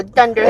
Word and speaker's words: dunderhead: Dunder like thunder, but dunder.